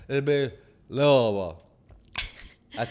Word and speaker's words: Louisville: So it's like it'd be Louisville. That's how I said. Pronounce it like Louisville, but like Louisville.